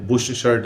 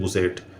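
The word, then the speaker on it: bush shirt: लेकिन भारत में यह शब्द जो बुश शर्ट है वो बन गया बुशर्ट। और बहुत हंसी की बात यह है कि कई सारे लोग तो इसको बोलते हैं बुसेट।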